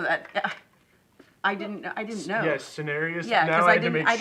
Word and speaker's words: Cineris: And Is that's how that's pronounced? No, that I didn't know. Yes, Cineris.